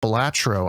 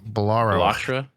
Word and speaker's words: Balatro: It's Balatro, I believe, is how it's actually supposed to be pronounced, but I was calling it Balatro. Balatro, Balatro. And you were calling it Balatro. Balaro. I missed the T.